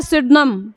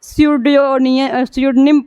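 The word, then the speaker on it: pseudonym: लिखा क्या है, ये बहुत मतलब टेढ़ा नाम है, स्यूडनिम लिखा है लेकिन इसको सुडनिम पढ़ा जाता है। PS यहाँ भी आया है तो P हमारा क्या है, साइलेंट है।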